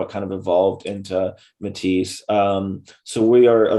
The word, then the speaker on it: METIS: from and it's everybody kind of gets it pronounced it weird some americans like to say menace but it's actually matisse right yeah i was going with like metis or you know going like full french in